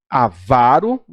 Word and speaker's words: avaro: A então eu tenho avaro que é uma paroxítona que as pessoas pronunciam compra proparoxítona a vão que coisa feia